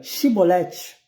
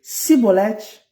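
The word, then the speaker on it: Chibolete: Se respondesse que não, os homens de Gileade lhe diziam: então diga Shibolete. Então diga Shibolete. Se ele dizia Sibolete, não podendo pronunciar corretamente a palavra, eles os agarravam e matavam nos vales do Jordão.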